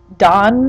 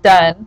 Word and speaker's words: Donne: it looks like John Don or something but no it's pronounced done like you're done with that assignment um he is the